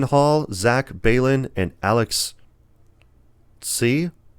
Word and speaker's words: Tse: And then you got writers Jason Hall, Zach Balin, and Alex C. I think that's how you pronounce it. It's TSE. So I don't know. Maybe C something.